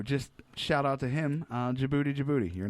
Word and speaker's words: Djibouti: right of Ethiopia and Djibouti, which, fun fact, that's spelled with a D first. Yes, it is, and the capital of Djibouti is Djibouti.